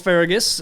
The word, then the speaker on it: Fergus: But his mom in the show is Irish, and she always pronounces it Fergus, and Fergus. like rolls the R or whatever.